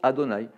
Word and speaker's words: Adonaï: ça que c'est pour ça qu on le prononce adonaï pas ce cadeau nice et là ma route